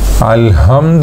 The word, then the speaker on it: الحمد: ووقع خلاف بين المتقدمين والمتأخرين في الحمد بالهاء، يعني ليس بالحاء، هو جاء هو أبدل الحاء بالهاء، وفي النطق بالقاف المترددة